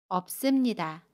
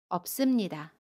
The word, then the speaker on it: 없습니다: 없습니다는 없습니다 라고 발음해요. 겹받침 비읍 시옷 중에 첫 번째 받침 비읍을 발음합니다. 그래서 업으로 발음하고요. 습은 씀으로 발음합니다. 없습니다.